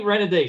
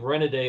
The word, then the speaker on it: Renaday: Because his real name is Renoudet. So, but nobody knew how to pronounce it, so he came up with a different spelling of it that looks like it sounds.